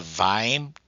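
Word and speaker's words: Kveim: VIME is spelled Kviem.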